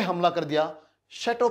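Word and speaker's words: château: इस शब्द को आप क्या बोलेंगे, इसका उच्चारण रहेगा शैटो, इसको आपने शैटो बोलना है।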